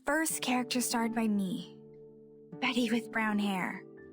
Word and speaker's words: Bette: And you know, I have confirmed that the character's name is pronounced Betty.